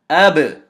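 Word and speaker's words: أَبْ: There is going to be a slight bounce on the sound, and I want you to listen to how I pronounce the ba. This is hamza fatha ba sukoon ab. One more time. Hamza fatha ba sukoon ab. That ba has a slight echo.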